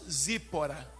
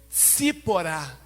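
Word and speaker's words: צִפֹּרָה: da mulher de Moisés nós pronunciamos zípora mas em hebraico é se porá que é o feminino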